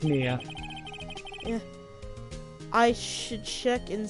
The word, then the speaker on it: Mia: Maya? Like, my... No, okay, whatever. Because it's spelled M-I-A. And Maya is M-A-Y... is M-A-Y-A.